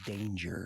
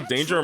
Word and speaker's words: Danger: Besides, there's only one person in this town I need to stop, and his middle name is Danger. Milo Danger Murphy? No, it's pronounced danger.